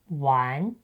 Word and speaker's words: 完: If you keep the final sound ‘an’, you’re really close! It is pronounced ‘wán’, just like 玩.